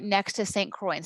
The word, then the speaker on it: Saint Croix: the family moved to saint croix i've been to the island right next to saint croix and see how it's spelled with an x on the end but it's pronounced kroy like troy very beautiful here it's